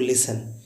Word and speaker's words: listen: Guys जब कभी TEN या TCH आए तो इसमें टी हमेशा साइलेंट होता है। जैसे लिखा होता है LISTEN, इसे पढ़ते हैं हम लोग लिसन, क्योंकि लास्ट में TEN आया हुआ है।